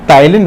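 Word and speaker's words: ptyalin: पहले इस एंजाइम को हम टाइलीन बोलते थे। पी इसमें साइलेंट रहता है।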